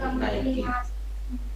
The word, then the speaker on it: Nike: brand के आते हैं NIKE उसको क्या बोलते हैं आजकल उसको बोला जाता है नाइकी ये जो जैकेट पहने